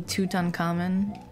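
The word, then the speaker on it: Tutankhamun: no there's two coming toot uncommon oh Zeno gears there's two ways I pronounce King tutt's name like the the egyptologist just say toot uncommon but then his name becomes king toot yeah so because it's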